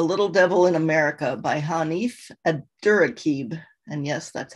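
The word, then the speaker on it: Hanif Abdurraqib: recommend is a little devil in america by hanif a durakeeb and yes that's how you pronounce it hanif abdurakib hanif is known for his insightful books of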